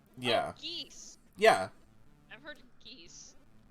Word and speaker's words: Geese: geese yeah i've heard geese like geese like the birds is how his name is spelled and pronounced oh my god yeah